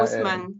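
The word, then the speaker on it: Haussmann: ele é é mas em francês a gente pronuncia husman é Osman Osman Osman é deixa eu te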